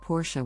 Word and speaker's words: Porsche: there first up Porsha the correct pronunciation is Porsha with the emphasis on the first syllable many people mispronounce it as Porsche without the S sound at the end next let's look at